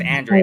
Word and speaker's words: Andrade: me I was practicing it's andreid andreid andreid Andre and I still